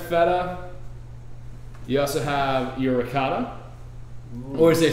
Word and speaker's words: ricotta: Hey, while we're on that, I want to say that mozzarella is pronounced mozzarella, ricotta is pronounced ricotta, prosciutto is pronounced prosciutto. It's not rigot, mozzarella, or prosciutto. Those are East Coast American.